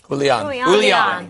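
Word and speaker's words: Julián: The thing about Julio Castro, it's not what he said; it's what he didn't say. How do you say it? Julian. With an in on the end.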